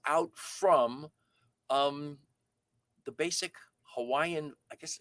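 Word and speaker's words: Hawaiʻi: hawaiian words it's not hawaii it's hawaii um that in in certain cases where there's the w a i that is pronounced with the with the v sound for the w so it's hawaii is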